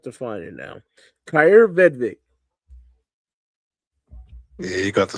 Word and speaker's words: Vedvik: Kyer Vedvik. Yeah, you got to spell it.